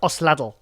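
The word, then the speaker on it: Osladil: So Lucas, how do you pronounce his last name? Lucas Osladl.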